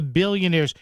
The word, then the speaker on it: billionaires: Billionaires, how he gets that extra syllable out. It's a thing of beauty. They're not billionaires, they're billionaires.